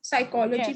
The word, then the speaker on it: psychology: with psychology where we don't pronounce the per yes so that becomes psy so in that matter psychology becomes the same yes yes so every